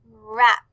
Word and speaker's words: wrap: For wrap, we see WR, R. For white, we see WH, so we just hear W.